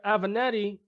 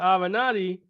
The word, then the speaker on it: Avenatti: a vanetti I said I sound like a banana have an eye I saw you mispronouncing that she I'm correcting mr. avenatti he is currently under investigation for allegedly trying